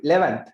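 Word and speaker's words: eleventh: 11th. නිකන් අර e එක නැහැ වගේ තමයි කියන්නේ. 11th වගේ තමයි කියන්නේ හරිම විදිහට. 11th hour. e එක නැහැ වගේ තමයි pronounce කරන්නේ.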